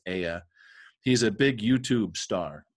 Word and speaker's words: Ea: EA, I think it's pronounced Aya.